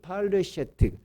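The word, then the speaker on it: פלשת: 팔레스타인이죠.이 이 블레셋의 히브리어 발음이 팔레셔트 팔레스타인입니다.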